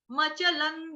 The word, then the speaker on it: अचलम्: अचलम, ध्रुवम. अचलम, ध्रुवम. अचलम। अचलम। अचलम। हम इसे 'मचलन' नहीं कहेंगे। अचलम्, मचलान् नहीं, अचलम्, अचलम्, अचलम्।